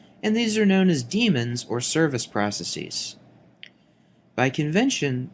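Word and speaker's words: daemon: AR aric spelling here with an AE in place of the e in the modern spelling however the pronunciation is the same Damon is incorrect even though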